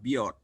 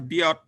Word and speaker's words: Biot: Bahasa kitanya bacanya Biot. Dia ini orang Prancis. Kalau orang Prancis, T-nya kalau bisa baca huruf itu ya. Kalau ada T di belakangnya nggak dibunyikan. Jadi kalau Pak Biot ini bacanya Bio.